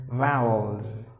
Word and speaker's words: vowels: you have to flounce the word is vowels you have to give the zet sound for the s so vowels a e